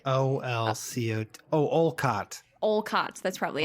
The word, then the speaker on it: Olcott: Which came out in 1881 by Henry Steele Occult, who said that... Was his last name Occult? Yeah, like Olcott. So it's like... Olcott.